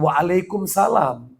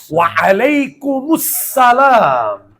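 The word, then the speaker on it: Wa'alaikumussalam: Jawabannya jangan waalaikumsalam. Jawabannya itu ada damannya, ada tasdidnya, ada alif lamnya. Jadi jawabannya bukan waalaikumsalam. Jangan dimatikan. Enggak boleh. Waalaikumussalam warahmatullahi wabarakatuh.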